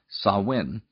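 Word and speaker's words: Samhain: the Celtic celebration of sawin which is spelled looking like samhan who are the Kelts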